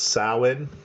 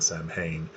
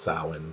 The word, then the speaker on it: Samhain: It's pronounced Samhain, but it's Samhain. So yesterday I was probably saying Samhain, pronouncing it phonetically, but it says it's pronounced Samhain.